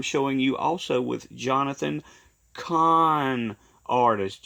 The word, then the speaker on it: Cahn: you also with Johnathan Cahn, artist. You see his name is spelled C-U-H-N, and then there's the word C-O-N. Those are homophones. Those two words are what's known as a homophone.